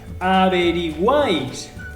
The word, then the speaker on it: averiguáis: Averiguáis. Lo separo en sílabas. A-B-R-I-Guáis. ¿Veis? Que la última sílaba es la sílaba tónica.